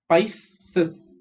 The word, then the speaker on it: Pisces: Okay, PIS is Pice and CES is Cis. Pisces.